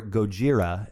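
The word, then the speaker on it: ゴジラ: sleep so godzilla or gojira as it would be pronounced in japanese uh is a fictional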